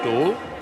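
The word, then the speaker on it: Ståhl: I know it looks like it should be pronounced Stahl, but it's not. It's just Stoll.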